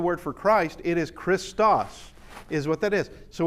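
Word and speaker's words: Χριστός: See if you can, who can pronounce this word. Yeah, that actually, it is the word for Christ. It is Christos, is what that is.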